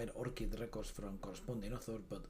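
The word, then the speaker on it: ORCID: with Orchid um with orchids or the the way to pronounce this is Orchid so that's what they say the company says so this is an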